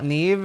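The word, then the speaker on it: Niamh: like huh why Nave well Neeve is spelled n i a m h you get really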